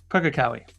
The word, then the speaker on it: Pukekohe: the name in New Zealand that I couldn't pronounce? Pukekohe. Pukekohe.